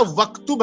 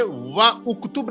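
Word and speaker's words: اكتب: तो यहाँ वक्तुब है, ये व उक्तुब नहीं पढ़ना है आपको।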